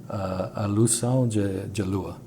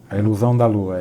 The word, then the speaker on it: A Ilusão da Lua: Let me try to pronounce it right. A Ilusão de Lua. A Ilusão da Lua, yes.